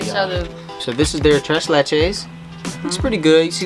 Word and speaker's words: tres leches: do you say it tres leches thresh ledges yeah thresh today where's the h today yeah where's the h there's no h it's t-r-e-a yeah i'm